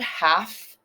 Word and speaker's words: half: spelling challenge and then half is an interesting one because that L is silent and then it has the F sound half so try to remember